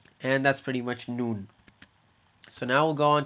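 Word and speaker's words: نون: same place noon and if i say it in english like the way the word sounds it's or it's spelled right now noon hey uh what time is the event tomorrow it's going to be at noon noon noon so again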